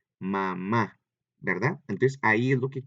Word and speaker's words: mamá: Fíjate bien, son dos fonemas, son dos sílabas, ma y ma, ¿verdad? Pero veamos que en una de ellas lo decimos más fuerte, ¿verdad? Que es cuando terminamos, mamá, ¿verdad?